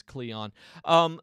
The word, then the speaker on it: Kleon: artist by Austin Kleon I think that's how he pronounces his name is Cleon but if you haven't